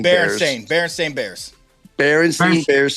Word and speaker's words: Berenstain: Wuzzles, and is it the Berenstain or the Bernstein Bears? Berenstain Bears. Berenstain Bears spelled with an E.